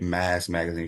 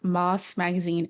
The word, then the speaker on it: Mas Magazine: And also shout out for you for giving the correct pronunciation, because I've been calling it Mass Magazine for the longest.